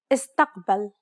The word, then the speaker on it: استقبل: استقبل. Do you recall the second principle? If there are no long syllables, stress the third to last syllable.